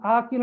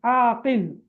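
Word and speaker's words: عاقل: நேரம் சில பெயர்கள் இருக்கும் ஆக்கில் என்று கூப்பிடுவீங்க அது ஆக்கில் அல்ல அது ஆக்கிலா ஓகே ஆக்கில் ஆக்கில்னா புத்திசாலி சரியா ஐன் அலிஃப் காப் லாம் ஆகில் அன்னா புத்திசாலி அதான் பேர்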